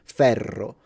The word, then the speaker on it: ferro: It's a But if you have two Rs, both in Latin and in Italian, that's when you make the sound he just made. So, for example, ferro. So, it's an longer sound and it's when you show off your rolling.